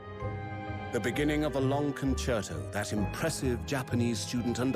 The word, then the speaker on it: concerto: Is that how you say it? Concerto? Concerto, yeah. Huh, I always said concerto. It's Italian. Concerto. Yeah, it's Concerto.